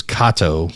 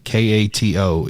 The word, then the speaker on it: Kato: but we uh we we've learned that it is Kato k-a-t-o is Kato and uh it'll be